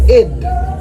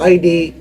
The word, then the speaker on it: id: No, it's not ID. It's id the I want it now part.